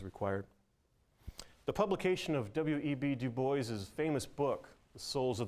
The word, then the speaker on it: Du Bois: My name is to be pronounced as two distinct syllables with an audible S, right, or Du Bois.